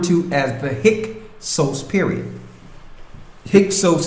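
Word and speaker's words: Hyksos: as the hick period hios is spelled h y k s o s hios in the Greek means Shepherd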